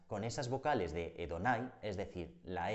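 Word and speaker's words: Adonai: de la palabra Señor que en hebreo se dice edonay quedando así el nombre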